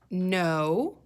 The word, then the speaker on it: know: No. This is the word know. I'm going to underline K-N. Let's talk about this silent K. When you say the word know, the K is silent.